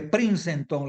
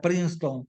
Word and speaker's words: Princeton: gran teólogo de de princenton le digo yo Yo sé que se pronuncia princeton pero del Gran el